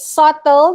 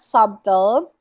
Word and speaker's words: subtle: see them together usually it's silent l alright subtle not subtle confirm was pronounced correctly confirmed it's not confirmed huh a